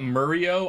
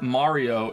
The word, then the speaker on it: Mario: But it's not Murio? I'm not even American? Who says Murio? No, who the fuck pronounces his name Murio? I think the only one in the games that says it Mario is Peach, right?